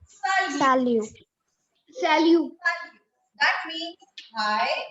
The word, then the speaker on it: salut: Hi or hello is salut. Salute. Salut. And T is silent in the end.